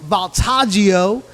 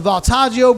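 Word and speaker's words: Voltaggio: I want to clean up all right Mike baltaggio that's the chef that I talked about last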